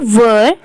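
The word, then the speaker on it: were: यू वर इसे वेयर नहीं pronounce करेंगे।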